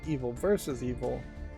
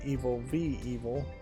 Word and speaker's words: Evil v. Evil: And I mispronounced this because I said Evil vs. Evil, but this should be Evil v. Evil.